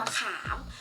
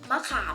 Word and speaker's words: มะขาม: เครื่อง เสียง เท่า นั้น ค่ะ เช่น คำ ว่า มะขาม มะขาม นะคะ มอ อะ มะ ขอ อา มอ ขาม